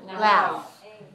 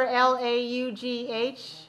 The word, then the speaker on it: laugh: It makes everyone laugh. Remember L-A-U-G-H is a strange word. It's pronounced like F sound.